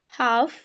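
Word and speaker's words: half: Pock could should would you के मतलब ए और ओ एंड यू ये वोवेल्स आने के बाद हमारे जो जो एल होता है वह साइलेंट हो जाता है।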